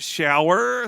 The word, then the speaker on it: Schauer: series Creator is Mitch shower spelled s c h a u e r but pronounced like the bathroom thing the shower like he he is